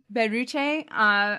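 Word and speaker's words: ベルチェ: Her name in Japanese is pronounced Beruche.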